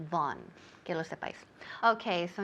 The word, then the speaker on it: Vaughan: Von. Remember, in English, the name is Von, pero aquí en España todo el mundo dice Vaughan, Vaughan.